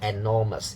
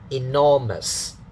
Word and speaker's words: enormous: So it's in, not n. Some people say n using another sound, like the e sound. No, don't say enormous, it's bad pronunciation. In, enormous, okay, we say enough, not enough.